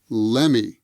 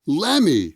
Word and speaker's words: let me: a cup of coffee let me let me is usually pronounced as lemmy lemmy lemmy let me get